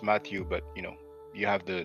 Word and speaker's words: Mathieu: Now, Mathieu is what you pronounce Matthew, but you have the name written in the title.